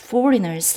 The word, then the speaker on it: foreigner: As foreigners and exiles. 그리고 이제 뒷부분이요. Which wage war against your soul. 붙입니다. 여러분 여기서 잠깐 발음 팁. 요 발음은요. 강세를 살리면 저절로 foreigner 되고요.